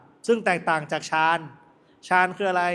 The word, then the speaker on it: ฌาน: อ่าน ว่า ฌาน (Jhana) ถ้า อย่าง นั้น สมาธิ และ ปัญญา เปรียบ เสมือน ความ สามารถ ทาง จิตวิญญาณ ล่ะ ก็ ...